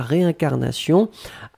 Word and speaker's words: réincarnation: La réincarnation avec un accent aigu sur le premier E, d'accord? Ré.